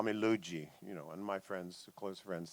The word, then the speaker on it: Lugee: Luigi.